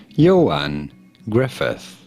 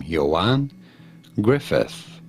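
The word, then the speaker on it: Ioan Gruffudd: are you here as I say his name Johan Griffith no that's not what they said how to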